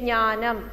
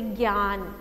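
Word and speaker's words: ज्ञान: In Malayalam we say knya, okay, knyanam, knya, but in Hindi you have to say gyan, okay, gyan, it is gya.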